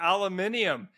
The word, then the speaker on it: aluminium: How about aluminium? Hey that's how the British pronounce aluminum.